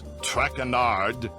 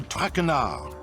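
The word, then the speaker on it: Traquenard: butchered while i eat as for my name not trackanard it is trackenar trackrenard enough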